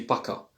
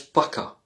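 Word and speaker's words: пока: Private salut lorsqu'on voit la personne et lorsqu'on quitte la personne on dit paka. Alors c'est écrit poka mais ça se prononce paka.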